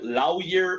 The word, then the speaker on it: lawyer: Nunca más, por si acaso, nunca más dirán lawyer o lawyer, no la U. Tiene que ser O nada más.